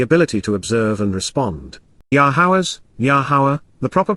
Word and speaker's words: Yahowah: person's perspective the ability to observe and respond yaha yahawa the proper pronunciation of the name of elower God has